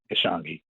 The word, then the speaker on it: Ishangi: correctly good morning brother and the correct pronunciation ishangi gotcha uh well hotep